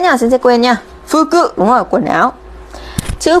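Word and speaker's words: 服: Đứng một mình nó sẽ đọc là phư cự đấy.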